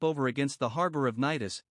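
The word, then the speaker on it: Cnidus: against the harbor of nidis pronounced naidus a port on the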